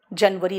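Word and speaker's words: January: बेटा प्रोनाउंसिएशन अब ध्यान से सुनना, जो मैं मंथ का प्रोनाउंसिएशन करूंगी। जनवरी, जनवरी नहीं, जनवरी।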